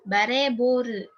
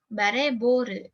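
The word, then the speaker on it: バレーボール: artinya bola voli ya ingat pronation ya kalau ada step kayak gini berarti harus dipanjangin bacanya bareboru eh bareboru berarti feat volleyball atau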